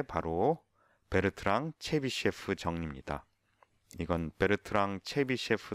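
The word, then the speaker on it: Bertrand: 정밀하게 얘기하는 게 바로 베르트랑 체비셰프 정리입니다. 이건 베르트랑 체비셰프 시어렘, 베르트랑 체비셰프 포스툴레이트라고 부르는 책도 있습니다. 포스툴레이트. 이거는 이 사람은 프랑스 수학자여서 베르트랑이라고 읽고요.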